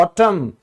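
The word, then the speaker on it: autumn: जैसे पतझड़ इसको हम कहते हैं ऑटम क्योंकि ये साइलेंट है।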